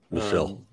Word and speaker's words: Michel: It was very it made me angry at the beginning, because I mean, this guy, is it pronounced Michelle or Michael? Michelle.